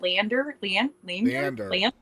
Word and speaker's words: Leander: Leander.